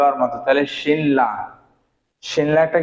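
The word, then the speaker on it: 신라: কি উচ্চারণ হবে ল মূলত উচ্চারণ হওয়ার কথা ছিল কি শিন শিনরা কি হওয়ার কথা ছিল শিনরা কিন্তু শিনরা না হয়ে কি হবে যে শিল্লা কি হবে লা তাহলে এটা কিভাবে হবে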